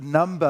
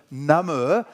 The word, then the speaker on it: number: And by the way, the answer for that clue is that you don't pronounce it number of men, but number, something that makes men numb.